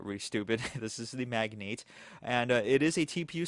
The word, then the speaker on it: Magnate: That is Magnate, not Magnet. Okay, I called this the Magnet for the first 3 videos until someone corrected me, so I felt really stupid. This is the Magnate, and it is a